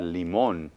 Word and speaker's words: limón: Y como termina en N, lleva un acento en la O.